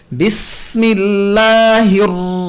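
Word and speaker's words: الله: আরেকটা ব্যাপার হচ্ছে যে আল্লাহ শব্দের আগে যেহেতু জের আছে, আমরা আল্লাহ শব্দকে পাতলা করছি, তাই না? হিল, মিল্লা, বিসমিল্লা। আর আল্লাহ শব্দে সবসময় একালিফ টানবো। এই একালিফ পরিমাণ টান বা দুই হারাকা পরিমাণ টানটা কখনো আমরা ছোট করি, কখনো বড় করি। এই জিনিসটা করা যাবে না, বরং প্রত্যেকটা বেলায় একালিফ টানকে সমান রাখার চেষ্টা করতে হবে।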